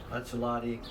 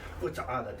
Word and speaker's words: Utsalady: And the pronunciation in Lushootseed, I'm going to butcher this for you, but it's like Utsalady.